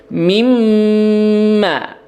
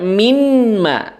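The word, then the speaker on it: مِمَّا: Ya, jadi mimma. Ya, jangan dibaca minma. Ya, nunnya jangan diperjelas. Ya, karena bukan izhar di sini, tapi idgham.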